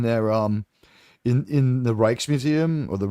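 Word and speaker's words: Rijksmuseum: R I J K Ts, but it's like the their J is like an H and their I is like an E.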